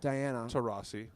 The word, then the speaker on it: Taurasi: Diana Taurasi, is that pronounced correctly? It's actually Diana Taurasi.